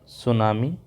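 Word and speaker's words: tsunami: हैं तीसरा हो जाएगा सुनामी सुनामी की स्पेलिंग ध्यान रखेंगे सुनामी की स्पेलिंग टी से स्टार्ट होती है टी एस यू एन ए एम आई सुनामी next है साइक्लोन साइक्लोन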